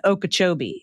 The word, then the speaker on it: Okeechobee: Okeechobee, pronunciation Okeechobee, said quickly.